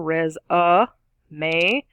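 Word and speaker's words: résumé: resume and a resume three syllables resume stress on the first third there's that schwa in the middle res uh may long a sound on the end resume is a thing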